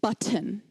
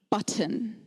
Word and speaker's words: button: Now, when I was a child, this was pronounced button, button. Yes, and now it's pronounced button. Button. The T has become silent.